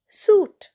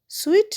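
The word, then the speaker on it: suit: এস ইউ আই টি সুট। সুটেও দেখো আইটা কিন্তু সাইলেন্ট। সুইট নয় সুট।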